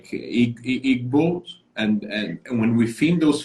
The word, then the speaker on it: Igbo: So, and 50 million is like Igbos. And when we think those 50 million are people that are connected to some Jewish roots. Is that correct? Yeah. So the G is silent. It's Igbo in and so there are different narratives.